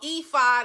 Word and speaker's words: ephod: It's called ephod. It's spelled E-P-H-O-D.